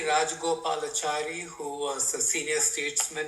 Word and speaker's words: Rajagopalachari: Uh Shri C It Go- Gopi, can you can you unmute and pronounce that for us. See uh Rajagopal. Yeah, it's uh C. Rajagopalachari who was a senior statesman in India.